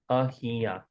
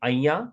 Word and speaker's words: અહીંયા: Ahiya. So in spoken language, we say aya, and again, we don't pronounce this h very much. Aya, like we don't pronounce it necessarily.